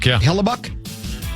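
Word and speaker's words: Hellebuyck: The uh Hellbuck, is that how you say his name? Hellbuck.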